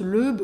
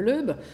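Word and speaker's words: Loeb: Alors, je ne sais jamais si on prononce l'Eub ou l'Eb, L-O-E-B.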